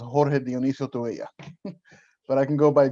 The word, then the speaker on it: Jorge Dionisio Tubella: So just so you know, my name in Spanish is pronounced Jorge Dionisio Tubella, but I can go by George Tubella.